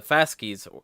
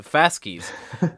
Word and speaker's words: fasces: fasces as its fasces, as it's Right. supposed to be pronounced. I guess I've got a Latin expert I talk to occasionally. He gets upset when I don't say it that way.